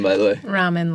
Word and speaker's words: Rahman: Ramen, like the noodles. Oh, nice. Yeah. Perfect. Right, because her brand the is best Cup of kind Rahman, of noodles. so... It's spelled R-A-H, right? Yeah, M-A-N. From what yeah. Okay. Yeah, it's okay. I get literally everything. Some people call me Raymond.